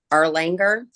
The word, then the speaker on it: Erlanger: 516 Erlanger Avenue, Slidell, 70458.